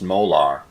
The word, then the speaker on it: molar: This capital M is pronounced molar.